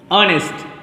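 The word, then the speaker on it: honest: अब देखिए एच, एच के लिए कभी भी प्रोनाउंसिएशन कभी आ आता है, जब आ आएगा तो एच साइलेंट होगा उसके लिए जैसे आर, ऑनर, ऑनेस्ट।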